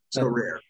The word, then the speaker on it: Sorare: company where he works so rare is that how I'm not pronouncing that right by the way so rare for now that's correct yeah so before we